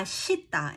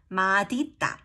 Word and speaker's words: 맛있다: ma it becomes then why is it ma mashita instead of madita actually it was madita and some old people